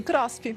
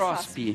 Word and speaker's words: CROSP: É assim que pronuncia? Sim, CROSP, mais CROSP.